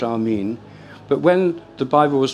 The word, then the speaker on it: amen: in the western Traditions which is amen or in its original pronunciation Amin this is used in